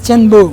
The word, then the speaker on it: Tianbo: mais en chinois, En chinois? ça se dit Tianbo. Tianbo.